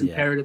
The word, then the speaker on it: IM'PERETIV: All social media platforms, it's IMPERETIV. That's imperative, yeah. Spelled phonetically, not grammatically.